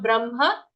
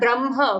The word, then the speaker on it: Brahma: Be careful when it comes to the pronunciation of Brahma. It is not Brahma, okay? Not B-R-A-M-H-A. It is B-R-A-H-M-A. So the half ha comes first, brah, and then full ma, Brahma. Not even Brahma.